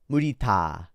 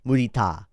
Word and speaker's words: mudita: But in Pali and Sanskrit, mudita, which is, it means joy, especially sympathetic or vicarious joy, the pleasure that comes from delighting in other people's well-being. It's a Buddhist concept. Mudita.